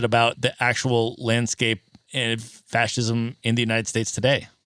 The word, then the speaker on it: fascism: off Italian phonetics like the sci being pronounced like s-h-i in English That's Italian and that comes from